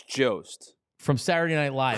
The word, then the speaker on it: Jost: Is it Colin Jost or Jost? I think it's Jost.